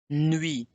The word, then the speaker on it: nuit: Bonne, bon, nuit, nuit. The T is not pronounced, so it's not nuit, and it's not nuit, it's nuit, nuit.